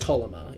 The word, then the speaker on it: Tolema: Pronounced Tolema, if you're bad with your Enochian.